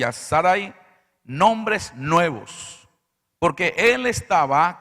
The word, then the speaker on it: Sarai: ¿Es Sarai o Sarai? No, es Sarai. Porque si fuera Sarai de llevar acento en la I.